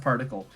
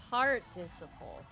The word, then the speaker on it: participle: It's not pronounced particle. You did it right. This was a bit. I don't think it went very well. Participle.